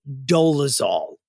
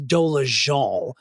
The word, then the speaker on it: Dolezal: It's been 11 years that Rachel and actually the pronunciation I believe is Dolezal.